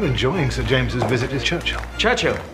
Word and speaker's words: Churchill: sir James's visitors Churchill Churchill that's how you say it all together like that I'd heard church and he'll but couldn't find either